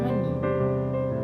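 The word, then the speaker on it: 많이: Jadi h dibuang jadi dibacanya shiro. Ya, shiro. Ya benar ya, shiro. Terus ada yang namanya mani.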